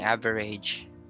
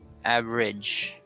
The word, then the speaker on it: average: Okay, average, instead of saying average, average. It's an RIJ sound at the end.